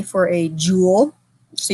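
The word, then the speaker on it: joule: a j for a jewel so you pronounce it like a jewelry Jewel but spell a little different Force symbol for force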